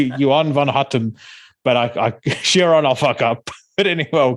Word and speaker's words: Chiron: We align our stars in his reflection is the lyric that really sticks out to me on, and the pronunciation is Chiron, right? Chiron, yeah.